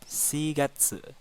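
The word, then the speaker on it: 四月: bulan2 negatif su bulan 3 sangat se-9 4 shigatsu Wulan 5 gogatsu bulan 6 rokugatsu bulan 7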